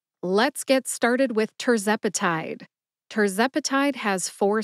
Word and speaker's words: tirzepatide: get started with tepati tepati has four syllables tur like turbocharged Zep which rhymes with pep uh which is a